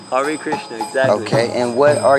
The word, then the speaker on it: Hare Krishna: That's how you say it, Hare Krishna? Hare Krishna, exactly.